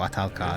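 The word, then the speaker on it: Ahtal-Ka: Atalka is how you pronounce it.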